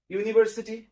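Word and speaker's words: university: ইউনিভার্সিটি as usual A, ইউ এর মতো উচ্চারণ হচ্ছে, তাই এখানে এ ইউনিভার্সিটি হবে।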